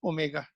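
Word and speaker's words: omega: Symbol is W है, वो W जैसा दिखता है, but this is pronounced as ओमेगा.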